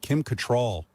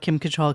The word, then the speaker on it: Kim Cattrall: And then there was a whole big thing about Kim Cattrall. That's how you say her name. I always said Cattrall. That's how it's spelled.